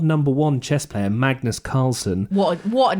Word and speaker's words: Carlsen: one chess player Magnus Carlsen, what a name, which is a great name, what isn't a it? name, although it technically should be pronounced Magnus Carlsen, but anyway, he has